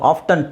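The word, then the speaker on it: often: ನಾವು ಅದನ್ನ I think ಆಫ್ಟನ್ is sorry ಆಫನ್ is better ನೀವು ಯೂಸ್ ಮಾಡಬಹುದು ಆಫ್ಟನ್ ಟೀ ಹಾಕೊಂಡು ಹೇಳಬಹುದು ಟೀ ಇಲ್ದೇನು ಹೇಳಬಹುದು ಓಕೆ ಇದು ಸುನಾಮಿ ಸುನಾಮಿ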